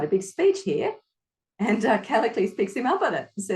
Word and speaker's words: Callicles: How do you pronounce that name again? Which one? Because there's the one that starts C. Callicles? Callicles.